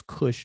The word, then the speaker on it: Kush: You have the everybody knows about the Kosh, which we pronounce as Kush, the Kushites.